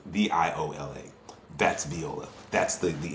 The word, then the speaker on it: Viola: with names but but it's VI is actually pronounced the way that spelled v i o l a that's Viola that's the the instrument but an